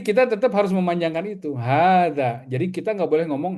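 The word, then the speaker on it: هذا: Jadi bacanya hadza. Jadi h-nya harus panjang, dza juga harus panjang ya.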